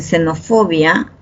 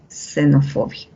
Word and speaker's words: xenofobia: setama xenofobia ya saben en xenofobia al inicio de palabras suena como una s xenofobia en gentiles así tienes